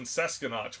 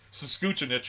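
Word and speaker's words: Saanich: howling laughing because it's it's pronounced like sanich or something like that and I call it sesen because I I I read it like it's sure you read it phonetically yeah and she's like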